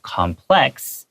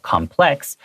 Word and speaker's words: complex: the word complexes Because as an adjective complex Spelled C-O-M-P-L-E-X And it has the accent on the second syllable complex That means 複雜的多層次的 but as a noun complex is read with the accent on the first syllable complex and then complexes is